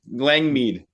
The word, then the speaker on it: Langmead: And how do you pronounce that properly? You pretty good. Langmead.